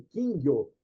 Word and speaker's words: Kingyo: Como você disse, a pronúncia aí, Kingyo, né? Beleza, é isso daí mesmo. Essa é a pronúncia japonesa, né? E o pessoal no Brasil até hoje ainda usa Kingyo, uma palavra trissílaba.